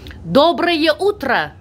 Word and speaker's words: доброе утро: Доброе утро. Доброе утро. Yes. It's kind of like Spanish. You gotta roll your R's. Roll the R's. Okay.